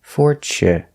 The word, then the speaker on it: fortune: Tu in the middle of the word is pronounced ch, and not for chu, but for che, fortune, fortunate, fortunate.